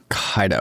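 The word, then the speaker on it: Kaito: on their KO or is it pronounced Kaido or Ko? Kaido. Kaido. Kaido. All right, Kaido.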